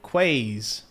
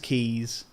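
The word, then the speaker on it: Quays: The Surrey Quaz. I know it's pronounced keys, but the running joke is the first time I ever seen that word, I said quaz.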